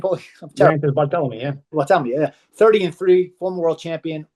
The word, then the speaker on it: Bartholomew: How do I pronounce his name, Paulie? Bartholomew, yeah. Bartholomew, yeah.